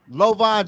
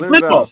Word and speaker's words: Linval: Lovan Joseph. Well, how you pronounce his name? Linval.